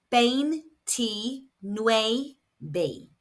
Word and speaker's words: veintinueve: It is pronounced bane t no b. We have the V's making a B sound and I's making an E sound and the U makes an U sound.